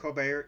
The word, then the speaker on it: Colbert: Gable as Peter Warne and it's hard to pronounce her name Claudia Colbert Colbert yeah I thought it called the Colbert le